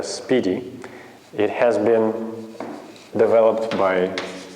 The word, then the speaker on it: SPDY: another protocol known as spdy and you're supposed to pronounce that a speedy it has been developed